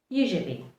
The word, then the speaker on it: usually: Usually. U-S-U-A-L-L-Y. Usually also means most of the time or frequently. The correct way to pronounce it is usually. Usually. The S is pronounced more like a Z.